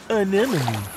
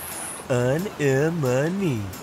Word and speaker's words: anemone: Anemone. Anemone. Anemone. Anemone. Hey, I got it. Great pronunciation, Dean.